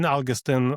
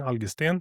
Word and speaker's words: Algesten: So Algustin or you know I'm from Sweden so it's Algustinian in Swedish.